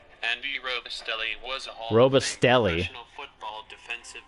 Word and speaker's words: Robustelli: Robatelli. Andy Robustelli was a Robustelli.